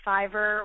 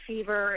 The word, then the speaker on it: Fiverr: I don't know if you pronounce it Fiverr or Fever.